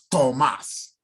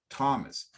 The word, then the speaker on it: Thomas: the language they are it's not tomas we don't say tomas is thomas thomas we don't say sada